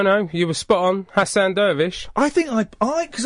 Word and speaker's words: Hassan Dervish: I think I pronounced your name wrong. No, no, you were spot on. Hassan Doervish.